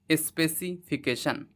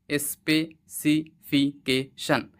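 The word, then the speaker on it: specification: হল কেন হ্যা স্পেসিফিকেশন এখানে সি এর উচ্চারণ অবশ্যই কে হয় ঠিক আছে ওয়ার্ডের মাঝখানে যখন সি থাকে তার উচ্চারণ কয়েকারে কে য় সো তাহলে ওয়ার্ডটির সঠিক প্রোনাউন্সিয়েশন হলো স্পেসিফিকেশন। স্পেসিফিকেশন। স্পেসিফিকেশন।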